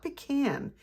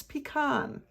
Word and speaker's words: pecan: I know some of you are saying, Sharon, it's not pecan, it's pecan. Well, Sharon says it, pecan. So I don't know what else to say except for I'm sorry if you don't like how I pronounce that, but pecan just sounds weird to me.